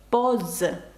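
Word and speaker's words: pause: між двома голосними Тому це звук з візж поз поз - це пауза До речі бачите а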